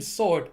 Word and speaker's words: sword: on Google and so both the American and the British pronunciations don't have the W yes the W and